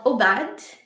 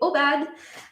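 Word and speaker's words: Aubade: It's called Obad. I don't know if it's supposed to be pronounced in French, but I'm going to pronounce it that way. Obad, for solo flute.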